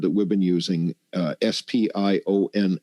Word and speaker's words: SPION: we've been using uh s p i o n s which would be pronounced spion which stands for super paramagnetic iron oxide particle there's so much that